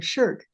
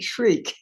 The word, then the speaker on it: SSHRC: Literary scholars, including Carol Shields, pronounce that acronym SHIRK, but I understand that theology scholars pronounce it shriek, perhaps as a result of all those Christian martyrs.